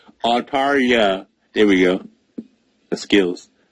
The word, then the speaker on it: Altaria: I'm like, hey, we got new megas, Salamence, Lopunny, and Arteria. Dang it, I can't say it right. Altaria. There we go. The skills.